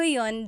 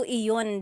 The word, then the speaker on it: iyon: You might hear people say, ginawa ko iyon dahil mahal kita, but usually the letter I sound is dropped.